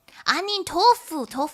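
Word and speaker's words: 杏仁豆腐: Anin tofu.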